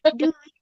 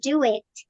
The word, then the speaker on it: do it: Duit ya kan? Tapi ini mah bahasa Jawa misalnya duit. Ya kan? Itu bahasa Jawa nggak sih Miss? Duit, iya. Jadi gini, ini bacanya bukan duit, tetapi do it.